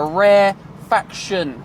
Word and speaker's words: rarefaction: the lines spread out, is called a rarefaction, not refraction, a rarefaction. Make sure you say it and spell it correctly.